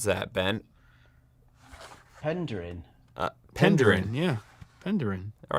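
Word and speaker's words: Penderyn: How would you pronounce that, Ben? Penderin.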